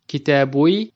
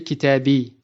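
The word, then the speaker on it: كتابي: So instead of saying kitabui, we say kitabi, which is easier to say for the tongue.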